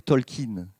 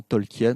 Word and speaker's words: Tolkien: alors on devrait dire talkin en fait on dit souvent tolkien mais on devrait dire talkin si on respecte bien l'accent de cambridge ou oxford comme vous voulez mais